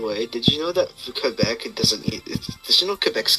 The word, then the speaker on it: Quebec: It's the only other majority French province outside of Quebec. So the province kinda sucks. Because Quebec kinda sucks.